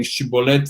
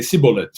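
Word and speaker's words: shibboleth: tribe of Menashe, and instead of saying shibolet, they'd say sibolet, right? They would say it like a sin.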